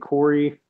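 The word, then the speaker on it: Coury: This is one of the guys named Corey, but spelled weird. Yeah, it's spelled really weird. Okay, yeah, he's got a really nice place. C-O-U-R-Y.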